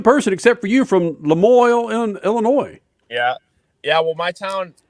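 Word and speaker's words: La Moille: How do you pronounce it? Lemoyne, Illinois, yeah.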